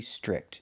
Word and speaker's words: strict: The TR makes a ch chicken sound. Str, strict. Make the short I sound like this is.